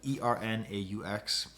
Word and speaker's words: Ernaux: But what Ernaux does, and that's Ernaux is how it's spelled, Ernaux. I can't pronounce it that way, but it's Ernaux is how you say it in French.